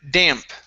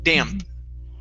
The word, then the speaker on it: damp: is uh the word damp make sure to pronounce that P instead of dam damp damp there you go good